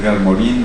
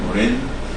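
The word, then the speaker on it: Morin: del de la complejidad Morín Morán moren como lo quiera pronunciar cada quien eh es un intelectual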